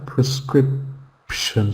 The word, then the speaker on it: prescription: two sounds prescrition yeah prescription so the first and the last syllable has a schw sound in this word prescription okay good very very